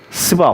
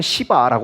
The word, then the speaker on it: 스바: 스바 혹은 시바라고 말합니다. 시바라고 발음해도 돼요.